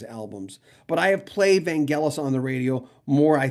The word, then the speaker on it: Vangelis: to say his name right because it is vangelis you look at the amount of compilation albums